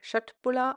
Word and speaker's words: Köttbullar: Hallo zusammen, hier ist Dillspitzen mit dem versprochenen Video für selbstgemachte Köttbullar. Diese werden in Schwedischen übrigens eher wie Köttbullar ausgesprochen. Ich bleibe hier aber bei der bekannten deutschen Aussprache.